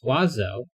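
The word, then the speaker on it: oiseau: Um and uh you would think it being pronounced wazo um from my um English uh background of language uh would be w a zo.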